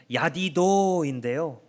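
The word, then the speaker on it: ידידו: 그의 사랑하시는 자, 히브리어로 발음하면 야디도인데요.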